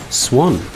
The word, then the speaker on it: Swan: us out is Swan Swan brackets pronounced like the bird oh right but his